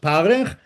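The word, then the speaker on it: פרך: The word is pronounced parech, but the Talmud tells us it's a combination of two words, pe rach, a soft mouth.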